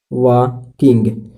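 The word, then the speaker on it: walking: ठीक है, वॉकिंग, इसमें एल साइलेंट है। ठीक है फ्रेंड, इसमें एल साइलेंट है, इसमें एल साइलेंट है इसलिए वॉक पढ़ाएगा, वॉकिंग। मेरी माँ टहल रही थी, तो माई मदर वाज वॉकिंग।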